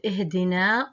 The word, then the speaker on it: اهدنا: The end of ihdina also is silent because it's a long vowel that is followed by a hamzat wasl.